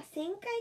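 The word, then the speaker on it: 旋回: 本気で旋回？あ、旋回って読むんや。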